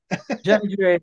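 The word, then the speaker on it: Johnny Gioeli: I'm going to say his name wrong. Is it Johnny Gielli? Johnny Gielli, yeah.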